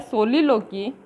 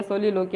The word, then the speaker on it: soliloquy: ए सोलिलोकी, सलीलकी बोलते हैं कई जगह प्रोनाउंसिएशन इसका, या सोलिलोकी, हम अपने तो सोलिलोकी ही प्रोनाउंसिएशन करेंगे, इसका प्रोनाउंस करेंगे इसको।